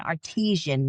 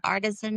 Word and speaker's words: artisan: This little book I got on Amazon and Artisian made it. How do you say it? Artisan. Artisan. Yeah. Well, it's not artisian. That's water.